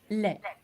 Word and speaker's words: lait: Du lait. Have a look at the spelling. I know it ends with a T, but we don't pronounce the T.